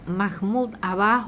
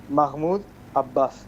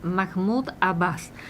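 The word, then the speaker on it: Mahmoud Abbas: Eh, ¿quién es eh Mahmud Abaj o cómo se pronuncie hoy?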